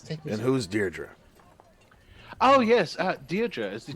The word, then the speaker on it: Deirdre: And to all those Greyhawk sticklers, I know that's not the official pronunciation, but it always sounds like Deirdre to me, so that's what I call it.